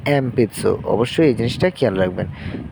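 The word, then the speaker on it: えんぴつ: তো এটার উচ্চারণ হবে এম তারপরে পি এবং এটা যেহেতু শব্দের শেষে সু থাকলে আমরা জানি এটা সু হিসেবে ব্যবহৃত হয়। তো এটা হচ্ছে এম পিতসু। তো এটা আমরা সঠিকভাবে যদি উচ্চারণ করি এটা এন পিচ্চসু হবে না। এন পিচ্ছুর বদলে হবে এম পিতসু।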